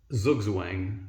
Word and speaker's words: Zugzwang: Some people might say that it's a Tutzwang, which is Zugzwang. It's spelt Z-U-G-Z-W-A-N-G, and it's German for compulsion to move.